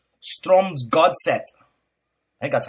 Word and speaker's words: Strømsgodset: Let's see if I can get the pronunciation of this team right. They were called Strømsgodset.